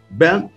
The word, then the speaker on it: Isaac Ben: Saudar o pastor Isaac Ben, escrito Isaac Bom, mas se pronuncia Ben, dizer que é uma